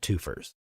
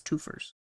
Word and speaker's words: twofers: I believe that's pronounced twofers. Yes. You are right. That is the proper pronunciation. It's twofers.